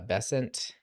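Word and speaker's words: Bessent: So, still if you missed the early part of the stream, uh, Secretary uh, Bessant, that's how you say his name. I probably mispronounced it multiple times on the stream.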